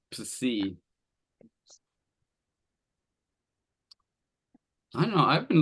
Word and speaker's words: psi: The consonant psi, in that consonant, the P is not silent. You pronounce both. It's psi.